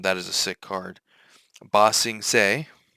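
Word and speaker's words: Ba Sing Se: Bosing seay for anyone who doesn't know that's how you pronounce that. Bosings. Um I know that there were some people who were mispronouncing.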